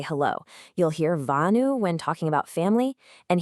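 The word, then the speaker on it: whānau: You'll hear vanu when talking about family. And here's a key tip. In Māori, the WH is pronounced like an F, so it's whanau.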